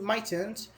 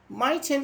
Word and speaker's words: mightn't: How to pronounce this word? Mitent. Mitent, yeah.